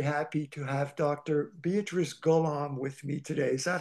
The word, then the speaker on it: Golomb: I'm very very happy to have Dr beatric Golam with me today is that how we pronounce it uh good enough beatric Golam is how I pronounce it that it's you know names are